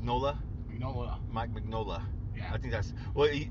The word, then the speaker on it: Mignola: told a precise story but then again mike mcnula big nola you know what mike mignola yeah i think that's well that's not how